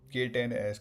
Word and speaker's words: K10s: So K10s kind of phonetically sounds similar to like kittens.